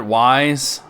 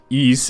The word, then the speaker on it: Ys: ellie's room for east remember back in the day when people used to call it wise you know what